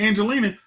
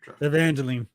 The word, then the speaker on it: Evangeline: I mean fun like when it comes to Angelina she she's got franchise residuals coming in you said Angelina you I said I mean Evangelina how do you actually say her name Evangeline Evangeline she has residual money coming in every